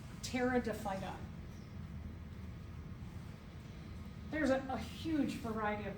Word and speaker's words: Pteridophyta: They're called pteridophyta. The P is silent. Pteridophyta.